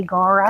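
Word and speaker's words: Gaura: This is Gora, the white one. G A U R A Gora.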